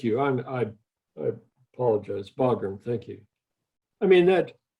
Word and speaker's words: Bagram: have given up help me dick is it bergstrom am i pronouncing it correctly air force base i mean we only have the air force base in in fog room thank you i'm i i apologize bagram thank you i mean that why would we